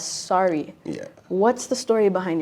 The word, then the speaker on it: SRE: question for you is I know your name is spelled s-r-e so it kind of sounds like it's it's straight or like yeah straight but you prefer uh for people to pronounce it as sorry yeah what's the story